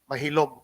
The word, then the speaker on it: Maxilom: evening and gregoria molero the word maxillo in spanish is pronounced and so therefore he was really mahilo this is a hispanized spelling of mahilo and when the americans